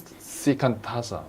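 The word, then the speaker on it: 只管打坐: So what is shikantaza means for? So shikantaza is originally pronounced shikantaza in Japanese, means like just sit.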